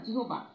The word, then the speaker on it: জিহ্বা: অনুরূপভাবে জিহ্বা, হ্যাঁ, জিহ্বা আমরা বানানটা কি লিখি? জি জয় রস্যিকার হ বয়াকার বা জিহ্বা, কিন্তু এর উচ্চারণটা হবে জিহ্বা। জিহ্বা উচ্চারণটা আমরা এটা করব আর বানানটা এটা লিখব।